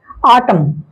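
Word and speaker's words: autumn: ए क्या लिखा हुआ इसके लिए रूल हमने लिखा है कि ए के पहले अगर ए हो ए के पहले अगर ए हो या कहे ए ए अगर साथ हो वैसी परिस्थिति में ए साइलेंट होते हैं जैसे कॉलम एन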